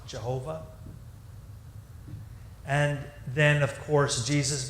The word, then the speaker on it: Jehovah: then just through sloppiness it begins to be pronounced as a J sound Jehovah and then of course